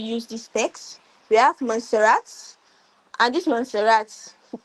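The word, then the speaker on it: Montserrat: We have Monserat. And this Monserat, the pronunciation is not how it's spelled.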